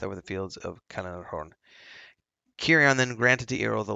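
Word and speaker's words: Cirion: It's Kirion. I gotta remember it's hard C.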